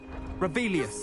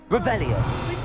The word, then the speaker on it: Revelio: Rebellious. You're saying it wrong. Revelio.